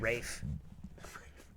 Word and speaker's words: Ralph: Rafe. It is. it is Rafe. Yeah. It's Rafe Oh. Fiennes. He makes us call him that. Okay, It's spelt Ralph.